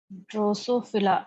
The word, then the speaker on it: Drosophila: ड्रोसोफिला, अच्छी बात ये है कि जैसे प्रोनाउंसिएशन है वैसी स्पेलिंग है।